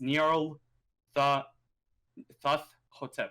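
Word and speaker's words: Nyarlathotep: It's Nyarl Thoth Hotep. So it's like Imhotep, but a little bit different.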